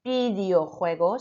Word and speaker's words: videojuegos: Number 4, it should have been videojuegos. So your V, remember, sounds like a B.